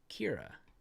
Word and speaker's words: Keira: If you take a look at this little second verse right over here, the first letter of each sentence says, or it's spelled K-E-I-R-A, Kira.